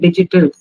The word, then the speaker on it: digital: okay what you're using very commonly the word digital how do you pronounce it digital yes say it very clearly